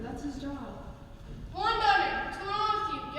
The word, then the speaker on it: Dunder: Reindeer who don't respect me at all because my name is Dunder. It rhymes with blunder.